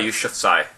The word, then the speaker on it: Yousafzai: By the way, it is pronounced Malala Yousafzai.